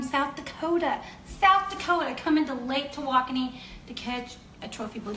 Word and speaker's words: Tawakoni: Here's the way to do it: to walk on knee. To walk on knee. Tawakoni.